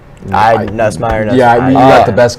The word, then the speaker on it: Nussmeier: Well, in Nussmeier, is that how you guys pronounce? Nussmeier.